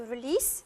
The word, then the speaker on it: release: let out it is to release with an S pronounced not a zoo it's a sound to